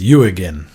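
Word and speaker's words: Jürgen: he's very particular oh sorry how am I mispronouncing it yeah it's you again oh you again really yeah that's how he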